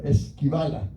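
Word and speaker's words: σκύβαλα: De esquivar, pero no esquivala. Se escribe s k y dos puntitos sobre la y b a l a.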